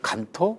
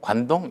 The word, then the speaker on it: 간토: 일반적으로 이제 시민들이 간토, 관동 이게 그 좀 많이 혼동하게 되는데요. 실제적으로 일본에서 현지명을 간토라고 이야기를 하고 그것을 간지 한자로 쓰면 그것을 이제 우리식으로 발음하면 관동이 되는 거죠.